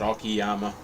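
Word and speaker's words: Okayama: It's I don't know if it's Yeah, Okyama, I think, is how it's pronounced, but everybody calls it Okiyama like okay yama or something.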